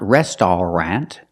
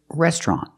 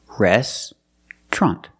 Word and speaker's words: restaurant: It's not restaurant, it's restaurant. We don't pronounce it with 3 syllables, we pronounce it with 2 syllables. Restaurant, restaurant.